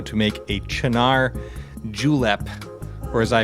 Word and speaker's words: Cynar: We're going to start using a really cool liqueur called Cynar, or as I pronounced it when I first saw it, Cynar, because it's spelled C-Y-N-A-R.